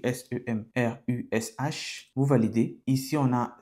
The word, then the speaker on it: Semrush: Ça s'écrit s E m r u S h.